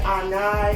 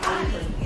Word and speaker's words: Ani: Is it Ani, Anai, or Ani? Ani. Said it right the first time.